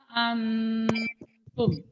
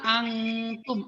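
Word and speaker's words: أنتم: Samar itu tidak ang, tidak, tapi an langsung masuk huruf ke ta. Wala antum. Bukan wala angtum. Angtum juga salah, tapi an sudah an sambil dengung itu sudah masuk ke huruf ta ya.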